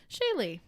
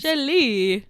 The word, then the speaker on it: Shaylee: on my main channel shaylee it's weird saying my name shaylee shaylee yeah i always love when people say shaylee do people grandma moser says it sometimes shelly like hello shelly shaylee well they also say